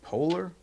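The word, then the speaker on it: Poehler: I don't I've seen this woman before, but I I don't know how to pronounce her name. Amy, is it Polar? Yes. Amy Polar.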